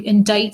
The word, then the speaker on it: indict: a saying diction is word choice if you indict someone and note the pronunciation there you're charging them with a crime